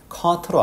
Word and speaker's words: caught: 물론 이제 영국식에서는 그렇게도 하는데 지금처럼 발음하면 사실 caught로 알아듣습니다.